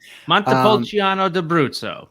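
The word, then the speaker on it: Montepulciano d'Abruzzo: week by the way can you can you re-pronounce it i had a tough time yeah montipolciano de brutso very good very good she's got it right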